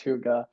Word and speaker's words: hygge: Um, no one come for me if that's not right, but I'm pretty sure it's pronounced hygge. So, yeah.